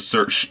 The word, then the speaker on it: Saoirse: the lee performance of search saoirse ronan that is how you pronounce maybe Saoirse Ronan um